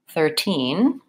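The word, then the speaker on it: thirteen: sound so 30 verses 13 to differences 13 I'm gonna stress the second syllable versus 30 I'm gonna stress the first syllable that's the main difference secondly in 30 my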